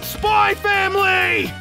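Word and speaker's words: Spy × Family: Fucking watch or read, SpyXFamily! And also, the X is silent!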